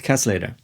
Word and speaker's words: Kasleder: and built by albert casselater who's by the way pronounced like costly that paul mccartney is